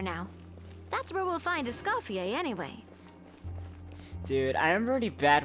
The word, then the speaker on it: Escoffier: Oh, Escoffier. Okay, that's how it's pronounced.